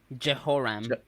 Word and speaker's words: Jehoram: Jehoram.